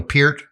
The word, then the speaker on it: Peart: I know it's Neil Peart because I've heard him say that before.